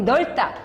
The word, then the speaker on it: 넓다: 거기 넓다. 얘는 겹받침 발음 넓다. 중요지? 리을 비읍은 리을로 하기로 돼 있어요. 넓다, 넓다, 넓다.